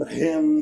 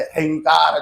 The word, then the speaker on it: ह्रीं: जप करे, ओम ऐं ह्रीं क्लीं चामुंडायै विद्महे। लेकिन इसमें ह्रींकार जो है वो थोड़ा कठिन पड़ता है। ह्रीं, ह अधिक र अधिक ई अधिक ह्रीं, ऐसा उसका उच्चारण है।